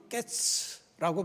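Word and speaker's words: קץ: 근데에 하나님께서 말씀하신이 끝이라고 하는 단어는 깨츠라고 발음을 합니다.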